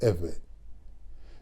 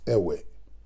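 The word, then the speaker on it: עבר: but rather the name Ever. This is the name that is now being pronounced as Ewe, which is the incorrect pronunciation of Ever.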